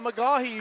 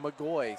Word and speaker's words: McGee: There's a nice drive by McGee who finishes. I evidently have been pronouncing it wrong according to the PA magoy.